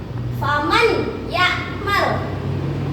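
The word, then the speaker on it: فمن يعمل: Kalau ada idgham biguna cara membacanya adalah dimasukkan dengan dengung. Jadi bacanya adalah faman ya'mal. Nun sukunnya dimasukkan ke huruf selanjutnya ke ya. Jadi menjadi huruf ya, bukan ke nun, bukan faman ya'lam tetapi faman ya'lam.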